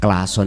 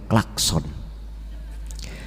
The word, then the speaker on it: klakson: Klason, jika diucapkan dengan benar, adalah klakson. Klakson, jika diterjemahkan ke dalam bahasa Inggris, adalah Tuan Bell.